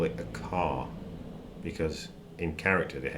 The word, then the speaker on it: char: you feel comfortable with it's an abbreviation of the word character which has a silent h so I tend to call it a car because in character the